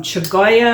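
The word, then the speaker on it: Chioggia: and then I've also got some choya I think that's how it's pronounced and those are also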